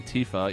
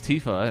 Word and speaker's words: Tifa: RPGs, to the point where I still say Tifa, even though it's Tifa. Wait, 'Cause- what? Are you serious? Yeah. What? No. Because I in my head, it was Tifa, and for years it was Tifa, and then